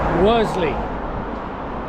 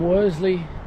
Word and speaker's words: Worsley: So, from Worsley, I got the pronunciation right. Ella just told me what the correct pronunciation was. From Worsley in Salford.